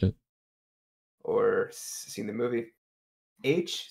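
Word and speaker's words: Aech: I couldn't catch it or seen the movie H spelled a e c h is the the main character best friend pronounced H yes oh and in the Oasis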